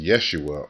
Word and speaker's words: Yeshua: really a Y sound, and Jesus, which is pronounced Yeshua or Yahashua.